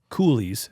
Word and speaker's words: coulee: It's conducive to a north wind, but it's also tricky because those ravines, swirls, coulees, as Nick likes to call them.